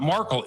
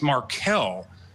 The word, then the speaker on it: Markel: It's not Markel, it's Markel.